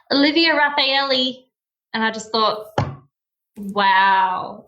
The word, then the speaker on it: Raffaele: So whilst we're on the subject of pronunciation, how do we actually pronounce your surname? Okay, so it's Raffaele, but when people look at it, and especially